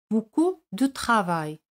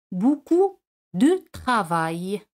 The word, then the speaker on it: beaucoup de travail: Mucho trabajo, beaucoup de travail. Siempre entre beaucoup y un sustantivo se coloca la preposición de. Beaucoup de travail. O puedes pronunciarlo así. Beaucoup de travail. Sin pronunciar la letra E.